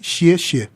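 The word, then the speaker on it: 谢谢: E se você quiser falar obrigado, a gente tem que apertar a língua bem forte e falar 2 sílabas iguais. Xie, xie.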